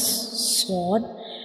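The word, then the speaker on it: صاد: You can see when we pronounce sword, the tip of the tongue rises towards the upper palate, touching the gums behind the upper two front teeth.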